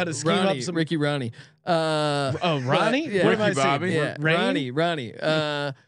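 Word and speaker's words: Rahne: to know how to screen up some Ricky Ronnie uh um uh how do you r-a-h-n-e do you pronounce it yeah Sean we're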